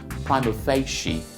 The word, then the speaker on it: prima facie: on the surface okay it is not from a fascia it is prima facie prime effect sheet now